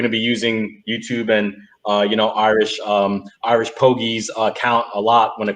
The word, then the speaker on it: IrishPogi: Is it IrishPogi? Is that how you pronounce it? Rob got it right. It's IrishPogi. The G is hard.